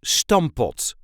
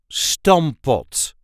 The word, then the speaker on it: stamppot: This is how we say Stampot. Stampot. The emphasis is on the first syllable. Stampot. Stamppot. Stampot. And yes, technically there are two P's in there, but we only pronounce one P.